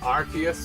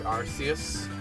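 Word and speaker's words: Arceus: I I've seen people just use the name, but it's either like Archus or Arus is how people pronounce it, but I mainly go for Archus. I feel that makes the most sense to me.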